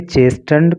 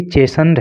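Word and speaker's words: chastened: तो नाराज तृणमूल कांग्रेस से संपर्क करते हुए ये चेस्टन कांग्रेस, चेस्टन, देखिए चेस्टन नहीं है, इसका जो प्रोनाउंसिएशन होता है वो चेस्टन वो चेसन होता है, चेसन, टी साइलेंट रहता है, तो ये चेसन्ड है, चेसन्ड कांग्रेस।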